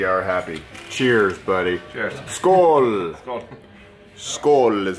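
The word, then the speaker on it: skål: fries milkshake we are happy cheers buddy cheers school is how you say cheers in Swedish food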